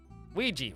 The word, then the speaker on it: Ouija: Ouija rhymes with squeegee.